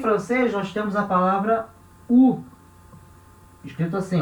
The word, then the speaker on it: ou: Em francês se escreve igual o português, mas na hora de falar se fala U, tá?